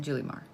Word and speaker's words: Julimar: Is it Julimar or Julimar? I pronounce it Julimar.